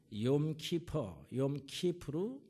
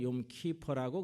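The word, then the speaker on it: יום כיפור: 오늘날의 이제 이 속죄의 제사는요, 유대인들은 욤키프루, 미국식 발음으로는 욤키퍼라고 그렇게 하는데 미국에서는요 굉장히 큰 휴일로 지내게 됩니다.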